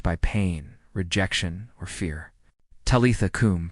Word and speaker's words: Talitha kum: Talitha kum, pronounced Talitha kum. Talitha is tender and slow. Do not rush it. Kum is firm and grounded, rising from the belly.